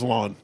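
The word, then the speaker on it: Lyon: So his name's Lawn. No. Which is spelled Lion by the way. It's spelled L Y O N.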